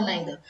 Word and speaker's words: neither: Neither, you can pronounce neither or neither.